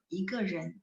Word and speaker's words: 一个人: Nah, jadi kalau lagi praktek ngomong, kadang-kadang mereka bacanya nada kelima, 一个人. Jadi nggak terlalu 一个人, jadi kayak kita kalau ngomong jadi kaku banget gitu ya. Santai aja maksudnya ya, 一个人. Jadi ke-nya jadinya diucapin dengan nada 5.